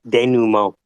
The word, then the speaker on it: denouement: This is the Syndicate denouement. It's denouement.